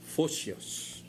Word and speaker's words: Photios: Maya ang yangan mo si Pusius, P-H-O-P-I-U-S, pronounced Photios.